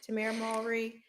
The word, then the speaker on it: Tamera: you can find me currently on Instagram um tamara. so it's spelled t a m e r a so just like Sister Sister Tam mry it's spelled and pronounced the same way um if